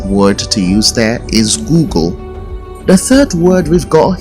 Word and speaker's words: Google: is the word Google the word Google is often mispronounced as goggle let's use it in a sentence you say let me Google to see if I